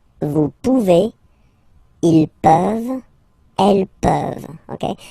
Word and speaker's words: pouvez: A Z like that, okay? Remember you pronounce it A, okay? Vous pouvez.